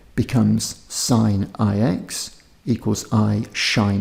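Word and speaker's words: sinh: We define the hyperbolic sine of x, pronounced shine x, as shine x equals e to the x minus e to the minus x on 2.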